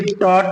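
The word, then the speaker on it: taught: हमारा ये you later silent हो जाएगा। काट पढ़ेंगे। ऐसे टॉट में देख लीजिए, यू जी एच टी पा लिया गया, तो ये वाला कायदा हमारे यहाँ जारी हो गया।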